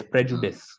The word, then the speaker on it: prejudice: Prejudice is Right Prejudice Prejudice is used uh okay I I think you're pronouncing it as Prejudice um Prejudice prejudice uh no after d you have to make it I I it is I Prejudice Prejudice ah okay